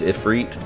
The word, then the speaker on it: Ifrit: stole crap anyone else cringe the first time they heard Ifrit pronounced efreet no but when the guy from world of Final Fantasy said I put the heat in if read I almost died I